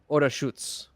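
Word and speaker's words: Orašac: Orac. It's um it's pronounced Orutz. That's Serbian for you.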